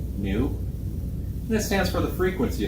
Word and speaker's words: nu: lowercase Greek letter n it's pronounced new this stands for the